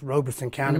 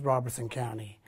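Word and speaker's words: Robeson County: traffic control i'm from robertson county where it's pronounced roberson county but everybody says robertson county um i'm part of the long beach tribe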